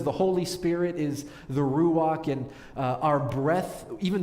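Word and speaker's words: רוח: for us as spirit in hebrew it's ruach or if you really want to get the hebrew pronunciation down a little bit better it's ruach you sound like you want to clear your throat and that's that hebrew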